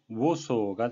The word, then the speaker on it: Warsaw: 폴란드의 수도 바르샤바는 영어식 발음은 워소가 되겠습니다.